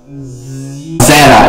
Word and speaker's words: Zetta: Yes, it is pronounced as Zetta. It's not Zeta. It's Zetta.